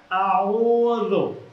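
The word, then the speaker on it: أعوذ: এই শব্দটাতে চাপ আছে একটা, কোথায়? আউযু, আউযু, আউযু বিল্লাহি মিনাশ শাইতানির রাজিম।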